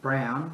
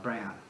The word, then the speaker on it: Braun: i mentioned my admiration for luna von braun brown whatever you want to call him i think it's brown i think the german uh yeah that's escort yes wernher von braun in german correct pronunciation and the man deserves